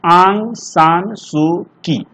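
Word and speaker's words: Aung San Suu Kyi: देखिए ये Burmese writer हैं, इनका नाम है आंग, लिख देते आप, इसको उच्चारण बढ़िया से कीजिएगा, आंग सान सू की, ऐसे इसको पढ़िएगा आप लोग।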